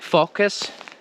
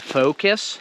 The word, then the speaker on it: focus: between focus and focus so my advice is that if in your language the letter o is pronounced all then i want you to know that in english the letter o is never pronounced off so anytime you're reading